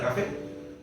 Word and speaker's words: café: Café igual, café se tilda en la última sílaba.